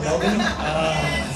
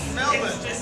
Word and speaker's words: Melbourne: single gear bicycles around Melbourne. Melbourne. Wait, I should say it like an American. Melbourne. Listen, if you guys don't want to say the R, just don't write the R there.